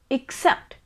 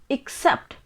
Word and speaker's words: except: very noticeable but there is slight difference we pronounce it as accept except you can repeat after me except and this word is a preposition matlab or